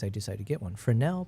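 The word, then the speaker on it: Fresnel: Frenel, pronounced Frael.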